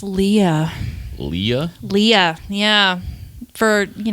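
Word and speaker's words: Leah: McGill Rojas mm-hmm what's Jordan's middle name it's Lea Lea Lea yeah for you know a long time people would pronounce it Leia and I'm like no no it's Lea l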